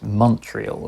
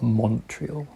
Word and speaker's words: Montreal: It's Montreal, right? It's not Montreal.